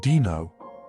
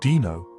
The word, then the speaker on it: Dino: He pronounced it Dino. It's actually Dino. I told him like dinosaur.